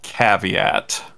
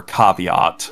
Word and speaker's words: caveat: And then I enjoyed Oddity so much that I immediately sought out the director's previous movie, which was called Caveat. Or Caveat.